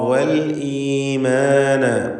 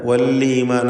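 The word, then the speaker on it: والإيمان: അദ്ദാറ വൽഈമാന. വല്ലീമാന എന്ന് തെറ്റായി പലരും പറയാറുണ്ട്, സൂക്ഷിക്കുക. വല്ലീമാന പറയരുത്. ഹംസ വ്യക്തമാക്കി മുറിച്ച് ശിദ്ദത്തോടുകൂടി ഉച്ചരിക്കേണ്ട ഹർഫാണ്.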